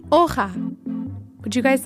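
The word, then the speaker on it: hoja: to say leaf in Spanish you would say OA would you guys like to try saying it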